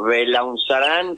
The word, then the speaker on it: Belaunzarán: El joven creo que así se pronuncia tu apellido Cómo te va Hola n querido belaunzarán belaunzarán bueno contanos Es una lástima